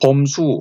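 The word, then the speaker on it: 范雎: 바로 그해 즉 270년 진나라는 전략을 바꿔서 소양왕은 위나라 출신인 범수 혹은 범저라고도 발음합니다.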